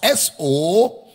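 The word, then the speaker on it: σωματικῶς: The word bodily is the word somatikos in the Greek. Somatikos is spelled as S-O-M-A-T-I-K-O-S.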